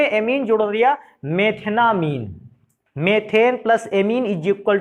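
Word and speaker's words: methanamine: अंग्रेजी में इसको उच्चारण अगर करते थोड़ा सा इंग्लिश में से, मेथनामाइन, AMINE के कारण उसको एमाइन बोलते हैं।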